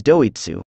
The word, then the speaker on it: Doitsu: As you know, Japanese people also refer to white people as doitsu. Doitsu is not an N-word, it actually refers to the word, Deutsch, which cannot be pronounced perfectly in Japanese accent.